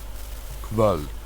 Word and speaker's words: kvöld: And the O with the double dots is a different vowel as well.